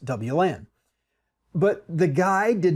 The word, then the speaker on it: WLAN: a point of that the common way that we pronounce wireless LAN is W LAN or wireless LAN I was talking to a gentleman who kept saying well LAN will land well and now that's weird it's different but I'm gonna tell you